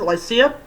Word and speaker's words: Lycia: for like like glycia they pronounced lycia an ancient maritime district